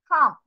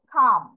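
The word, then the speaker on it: calm: বিড়ালটা হচ্ছে পরিষ্কার ক্যালস ক্যাট ইজ খাম এটার প্রোনাউন্সিয়েশন কি খাম নট কাউ এলটা এখানে উচ্চারণ হবে না কি উচ্চারণ হবে খাম এমটা উচ্চারণ হবে শুধু খাম তাহলে বিড়ালটি হচ্ছে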